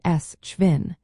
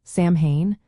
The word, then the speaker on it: Samhain: In Scotland, for example, the pronunciation may sound more like suvvin. This difference occurs because the mh in Scottish Gaelic can produce a V or W sound when you travel through Ireland.